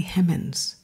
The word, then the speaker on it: Hemings: her maiden name and it's spelled h-e-m-m-a-n-s that's if you're in the south and you're dropping that ing what does that sound like to you hemmons hemmons her name was sally hemmins she was named after